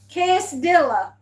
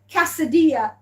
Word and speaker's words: quesadilla: Quesadilla.